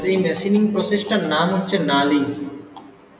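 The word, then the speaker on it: knurling: একটা machining process এই machining প্রসেসটার নাম হচ্ছে নালিং কে কে দিয়ে শুরু হয় কে এটা সাইলেন্ট থাকে এন ইউ আর এল আই এন জি এই মেশিনিং প্রসেসের নাম হচ্ছে নালিং নালিং ঠিক আছে এই নালিংটা কেন করা হয়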